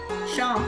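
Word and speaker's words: Seam: Sham, pronounced Sham.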